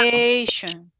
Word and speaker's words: education: It has 4 syllables, but only one is going to be stressed with a lot of good time.